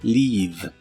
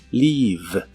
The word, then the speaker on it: leave: Primero, el verbo leave, que significa partir o irse. Se pronuncia con la I larga y la V es labiodental y vibrante. Leave, leave.